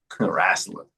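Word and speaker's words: wrastlin: t e r rrestling I like how you've been saying spell it w r a s t l i n rrestling. Rrestling. There you go. No g needed.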